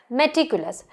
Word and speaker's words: meticulous: The next word is pronounced as meticulous.